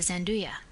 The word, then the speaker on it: Zanduya: Washington Square, at the Zanduya. The proper pronunciation of this is as if it were spelled Zhanduya.